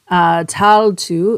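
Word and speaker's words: Tailtiu: lose Foster mother and I'm gonna butcher her name so it's spelled t-a-i-l-t-i-u towel too is how I would assume it's pronounced but not sure and she died of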